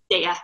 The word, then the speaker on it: Daya: Daya. Mm-hmm. Daya.